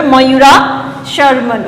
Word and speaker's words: Mayura Sharman: Some examples are the cases of Kadamba, Mayura Sharman, pronounced like that. Separate the two different words here, Mayura Sharman, okay.